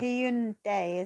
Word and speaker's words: Hyundai: probably need to do some more Kia and Hyundai. Hyundai, isn't it? Oh, yeah, Hyundai. Yeah, Hyundai. Got to get the pronunciation right.